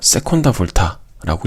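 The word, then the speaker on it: seconda volta: 그래서 세콘다라고 해서 세콘다 볼타라고 읽어요. 세 번째 것은 이렇게 테르자라고 읽을 수 있어요.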